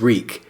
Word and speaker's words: Reek: here's a passage reek my name is reek it rhymes with Bleak he had to remember